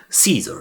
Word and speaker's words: Caesar: Les singes ont quant à eux survécu dans la forêt environnant San Francisco et forment une communauté soudée dirigée par César. Vous pouvez le prononcer Caesar.